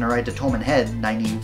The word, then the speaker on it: Nynaeve: Naive. And I'm like, I read it. N-Y-N-A-E-V-E. Oh, goodness. Nynaeve.